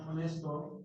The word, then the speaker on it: honest: Esa H es una silent letter. Claro. Dime, Faisal. Una pregunta porque a una persona honesto, en inglés es honest.